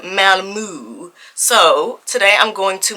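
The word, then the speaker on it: Malmö: am heading to Sweden like I said said it's spelled m a l m o with the two dots on the top so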